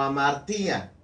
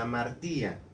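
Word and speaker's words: ἁμαρτία: Y la palabra del Señor nos dice que es una palabra que utilizaron en el Nuevo Testamento como amartía, así se pronuncia, amartía.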